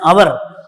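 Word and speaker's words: hour: यहां एन आ गया, मैंने पहले बताया था कि जिसका एच साइलेंट हो, एच से तुरंत बाद अगर ववल हो तो हम उसका एन यूज करते हैं, ठीक है, क्लियर।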